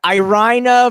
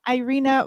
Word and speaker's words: Irina: me off guard when people say my name with russian you know proper russian pronunciation i feel like um i don't know i'm back to rush all of a sudden i'm sorry i irina varina does that help